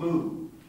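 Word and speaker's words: μ: that's the letter m in greek it's called mu mu that's the letter m the name of the letter is mu that's the move no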